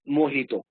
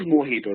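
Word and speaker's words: mojito: say everybody likes this it is moito these yeah the pronunciation is moito right so these are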